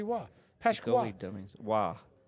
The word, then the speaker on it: Roy: Wah. It's a hockey reference. Patrick Wah, the goalie. Gotcha. Yes. Yes. Wah. I think a lot of people called Patrick Wah before Waugh.